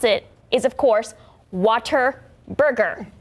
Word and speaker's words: Whataburger: So earlier this month, Whataburger tweeted that the correct way to pronounce it is, of course, Waterburger. Not Whataburger. It's Waterburger.